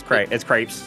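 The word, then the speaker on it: crêpes: If you're America, then yeah, it's crepes. But crepes is the correct pronunciation.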